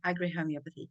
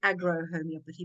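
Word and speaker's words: agrohomeopathy: I agree homie but like agriculture Agri Homeopathy some people call it aggro Homeopathy but I don't like I don't like the aggro that's so negative you don't want any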